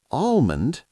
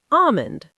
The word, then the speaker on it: almond: The L is silent. Silent? You mean we don't say the L? Nope, it's not almond. So it's almond.